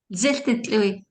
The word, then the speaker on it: Zil Didlui: opening of the school, which I have always called DAP, but I believe, and you can correct my pronunciation, Zil Didlui. Is that correct? Zil Didlui.